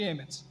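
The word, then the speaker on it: אמת: E como que se escreve Emet? Emet é um Aleph, um Mem e um Taf.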